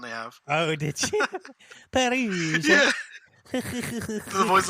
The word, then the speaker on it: Perugia: I went on Wikipedia and I pressed the pronunciation little sound they have. Oh, did you? Perugia.